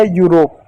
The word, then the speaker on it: Europe: कैसे पढ़ेंगे, जैसे यहाँ पे एक शब्द EUROPE, ई यू को क्या पढ़ेंगे यू पढ़ेंगे, आर को क्या पढ़ेंगे र पढ़ेंगे, ओ को क्या पढ़ेंगे ओ की मात्रा पढ़ेंगे, पी को प पढ़ेंगे, हो गया यूरोप, ई साइलेंट होगा, किसी शब्द के अंत